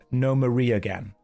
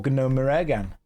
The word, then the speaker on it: Gnomeregan: It's pronounced Gnomeregan. I'm pretty sure it's Gnomeregan. You can check, but I'm like 90% sure that's what it is.